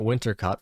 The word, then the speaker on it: Wintercott: And then we'll go visit mom down at Wintercott first thing in the morning. Note, that's how you spell it, but the way she says it, it rhymes with hot, like winter cot.